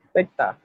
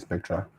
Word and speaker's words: Spectre: Spectre. Oh, Spectre. Mm. The day I tried pronouncing it like that, it was not sweet in my mouth, so I just continue calling it Spectra.